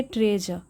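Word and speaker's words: treasure: बाबा को खजाना मिला तो यहां पर जो आर है यह लगभग साइलेंट होता है इसे पढ़ेंगे ट्रेज तो चलिए देखते हैं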